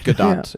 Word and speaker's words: Gadot: It's Gadot. It is. Okay. I'm pretty sure you pronounced the and I T.